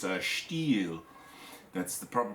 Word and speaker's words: Stihl: It's a steel. That's the proper pronunciation. It's not steel. It's a steel.